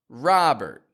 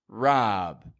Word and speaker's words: Robert: Another common name these days is Robert. Robert. They might even just go by Rob. Rob. But whether you're getting Robert or Rob, the vowel sound, ah, is crystal clear in there.